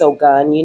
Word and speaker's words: Ogun: But they told me that it's Ogun. Like Oshun is really Ocean, okay.